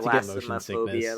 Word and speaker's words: thalassophobia: Don't have Try not to get motion thalassophobia sickness.